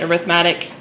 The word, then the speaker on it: arithmetic: we call arithmetic sequences i know that's spelled like arithmetic but you say it arithmetic okay so first of